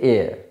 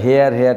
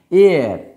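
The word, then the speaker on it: heir: যেমন আমরা এই যে উচ্চারণটা বলি না, এটা কি, এটা এয়ার, আমরা হেয়ার টাইপের করে থাকি, বংশ মানে বংশ যেটা আর কি, এয়ার, ওকে।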